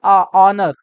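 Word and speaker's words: honour: से स्टार्ट होगा एंड ऑनर ऑनर मैंने बोला start विथ एच and this इ consonant sound but start विथ एच तो that is that is H that is consonant consonant but एच इ silent तो ट्स वई ऑनर I speak O ऑनर सो ओ is Wavell sound ट वि sound vowel sound O एच इ silent so इट is like a started विद a vowel understand next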